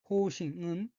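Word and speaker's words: 方針: 넷째 줄 오른편 두 번째 어휘는 한자가 한국어로 방침이고 각기 모방, 바늘 침자로 되어 있고 일본어로는 호우싱이라고 읽으며 호우싱은 방침이란 뜻입니다.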